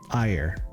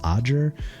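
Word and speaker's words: Ajer: So, I think it's like Audger, but um, yeah.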